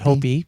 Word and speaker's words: Hopi: street over was Hopi, but I always called it Hoppy growing up. And as I became older and realized I was mispronouncing it all those years, it really got me down.